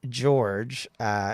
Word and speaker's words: Iorge: And the one who's called called George is not spelled. It's not spelled like George. It's just FYI, but it's IORGE. Okay. I'm just going to spell it like George so I know how it's pronounced.